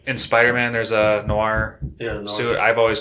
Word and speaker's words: noir: black yeah so um i always said neuer that's how i always pronounce it but the way you said it i'm pretty sure is the way real way is saying it lawyer noir noir noir oh yeah like in